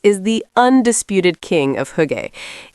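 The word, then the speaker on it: hygge: As we mentioned, the Danish have the word higay pronounced huga, and it's been wonderfully adopted into English to describe that specific feeling of cozy, convivial contentment. Winter with its long nights is the undisputed king of huggy.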